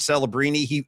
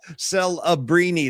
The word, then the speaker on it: Celebrini: Well, Celebrini. That's a 4-syllable last name. We had to come up with something. Celebrini.